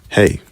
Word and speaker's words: ה: It has the sound of a English h like house ha ha like in house or horse.